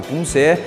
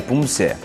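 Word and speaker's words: 품새: Contudo, como mencionado, a pronúncia permanece Punse.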